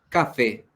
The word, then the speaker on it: café: tampoco es café café donde se carga la voz en la fe y la fe es la primera la segunda la tercera o la última sílaba la última que termina en bocas